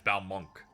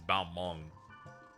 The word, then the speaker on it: Balmung: Because sometimes they deliver it as Balmunk, but it's Balmung.